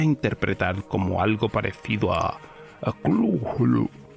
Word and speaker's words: Cthulhu: algo parecido a Cthulhu, donde la primera sílaba se pronuncia de forma gutural y muy opaca. La U es como de la palabra inglesa full, y la primera sílaba no suena muy distinto de clul, porque la H representa la opacidad gutural.